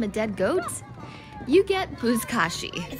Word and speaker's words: Buzkashi: I wanted to see Buzkashi. How do you say it? The game with the people on horses and the goat. Buzkashi.